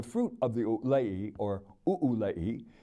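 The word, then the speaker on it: ʻūlei: of the Olay or ulei it is pronounced as if there were an okina at the end according to the Hawaiian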